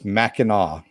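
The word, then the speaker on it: Mackinac: gone okay nihlus shadow its Mackinaw is how it's pronounced that island Mecca no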